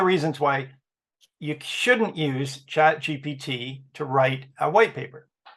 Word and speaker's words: ChatGPT: And by the way, this was ChatGTP, right? Yes, ChatGPT. GPT. I'm saying it wrong.